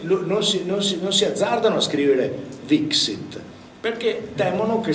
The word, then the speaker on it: vixit: Vixit, perché temono che si legga Wixit, che era giusto lo stesso, ma non gli suona, perché sanno che si dice Vixit anche, e quindi usano la B, che sicuramente in greco il beta si legge V, non so se mi spiego, è un po' un giro, però loro così hanno una certezza che si legge Vixit.